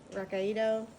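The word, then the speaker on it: recaito: So I like racaito, to say it correctly.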